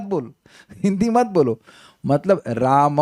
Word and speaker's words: राम: मतलब राम है। हम लोग राम बोलते हैं। राम विल बी म विद हलंत।